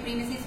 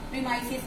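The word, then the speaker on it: premises: प्रीमाइसिस का मतलब क्या होता है बच्चों, कुछ इसको प्रोनाउंसिएशन में प्रीमिसिस कहते हैं, कुछ इसको बच्चों क्या कहते हैं, प्रीमाइसिस कहते हैं.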